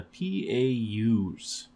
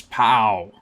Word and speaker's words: PAU: people's African Union the pus which when you say it like that sounds kind of like pu but no it's pow pow cuz we got punch